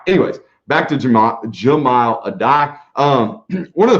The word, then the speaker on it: Jahmile: or whatever it is jamal okay not jameel it is jamal okay so there you